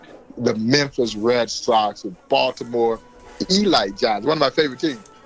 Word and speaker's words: Elite Giants: Birmingham black Barons the Memphis Red Sox Baltimore Eli Giants one of my favorite teams is the Eli GI now it's spelled Elite okay but it's pronounced Elite you